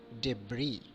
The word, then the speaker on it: debris: Letter S sometimes can be silent, like easel, not eisel, island, not island, debris, not debris.